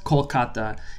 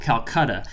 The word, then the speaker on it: Kolkata: decided to rename it based on the Bangla pronunciation of the word the previous few centuries the city was called Calcutta and it continues to